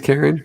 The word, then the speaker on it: Caron: Your mom's name's Karen? Karen. But it's spelled Caron.